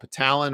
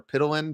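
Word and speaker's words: ptyalin: can also see it's called petalen or pittalin depending on how you pronounce it um it's the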